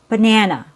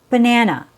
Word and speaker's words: banana: Our first example is banana. Banana. Banana has three syllables. The first syllable has a schwa.